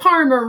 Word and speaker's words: Parmer: Pretty easy, but remember, Parmer rhymes with farmer.